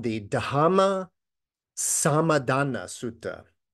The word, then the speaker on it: Dhamma: sutta is called the dama sadana sutta now dama is the poly pronunciation of Dharma right Sanskrit that harder